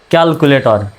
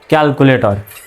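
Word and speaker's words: calculator: ক্যালকুলে টি ও আর টর তাহলে কি হলো ক্যালকুলেটর সঠিক উচ্চারণটা কেমন হবে ক্যালকুলেটর মানে হিসাব যন্ত্র এম আর ই মোরে কিন্তু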